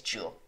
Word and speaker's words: Jewell: but uh it is jewel okay it's jewel it's jewel okay we know we know now we know now it's pronounced jewel we got you he